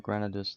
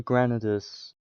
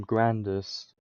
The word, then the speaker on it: Granadas: I'm not gonna lie, what I said originally was, I said, for Granadas, before I even knew how to pronounce his name, I pronounced him Grandis because it was a lot easier, and I never read